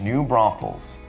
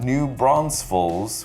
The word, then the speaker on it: New Braunfels: own but it's actually a town it's called new braunfels not new bronze falls which is a common way to mispronounce it because i'm from new york and